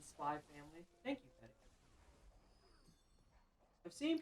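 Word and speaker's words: Spy × Family: The X is silent in Spy Family.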